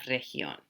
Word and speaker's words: región: And you'll notice there is a little accent mark here. So that means we want to make the stress on that syllable.